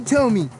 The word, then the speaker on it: Thome: I'm little Tommy my last name is spelled t h o m e it's got one of them silent hes in it I like playing baseball